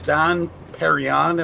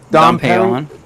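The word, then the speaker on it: Dom Pérignon: Yeah, Dom in I think it's Don Perignon, if I'm saying that right. Dom Perignon. Don Perignon. Okay, yeah, I'm saying it wrong.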